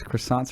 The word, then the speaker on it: croissant: Well, of course, croissants are horrible for you. But they're so good. So good. And it's pronounced croissant. By the way. Croissant. Croissant.